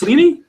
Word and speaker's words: Sleney: I hope I don't picture that that's Leaney it is actually nobody in England pronounces that correctly excellent is part of